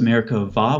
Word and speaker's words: Merkabah: It's spelled with a B-A-H at the end most of the time, but the B in Hebrew doesn't have something called a dagesh. So it's pronounced Merkabah with a V sound.